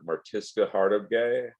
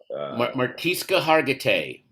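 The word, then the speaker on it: Mariska Hargitay: I think that was, I don't know how to say her name from Law and Order, Martiska Hartogay. Martiska Hargitay.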